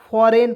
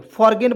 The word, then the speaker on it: foreign: यहाँ देखिए FOREIGN फॉरेन पढ़ते हैं, फॉरेन, जो फॉरेन कंट्री होता है ना वो इसी प्रकार से लिखा जाता है। तो यहाँ देखिए इसमें हम लोग जी का साइलेंट कर दिए, ठीक है। यहाँ देखिए फॉरगेन बहुत लोग पढ़े नहीं, फॉरेन पढ़ते हैं, फॉरगेन नहीं पढ़ेंगे।